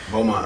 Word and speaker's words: Beaumont: Beaumont.